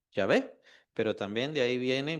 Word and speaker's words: Yahvé: dice a Moisés, pero el problema es cómo se pronuncia. No tiene las vocales de la misma manera como está ahí, solamente hay consonantes. Entonces no sabemos cómo se pronuncia. Al paso de los años se considera que es Yahvé, pero también de ahí